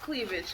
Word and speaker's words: Klevij: for the girls it's called cleavage but it's pronounced cleavage but it's spelled with ak look at that